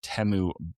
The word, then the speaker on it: Teu: So when if you're confused about how to pronounce Teu, just think it rhymes with Shamu.